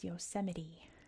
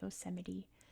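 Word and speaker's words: Yosemite: Some people have trouble pronouncing this. Um, it is Yoseite. We pronounce T's as D's or we just drop the T sound. In this case, it's a D. Yoseite National Park.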